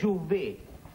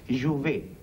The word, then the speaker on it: Jouvet: Perdón, es Jouvet. con T al final, T que no se pronuncia en francés. Jouvet.